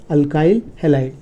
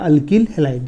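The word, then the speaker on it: alkyl halide: Secondary अल्काइल हैलाइड या अल्किल हैलाइड, जैसा जो बोलना है। प्रोनाउंसिएशन का प्रॉब्लम नहीं है, क्योंकि हम लोग CBSE भी पढ़ाते हैं, स्टेट बोर्ड पढ़ाते हैं। CBSE में इसको अल्काइल हैलाइड बोलते हैं, स्टेट बोर्ड इसको अल्किल हैलाइड बोलते हैं।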